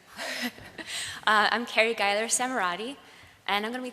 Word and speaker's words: Geiler-Samerotte: Our next speaker is Carrie Gler Samurret. Okay, great. Okay. Uh, thank you. That's that's the closest anyone's got to pronouncing my name correctly. Uh I'm Carrie Ger Samarati and I'm going to be talking to you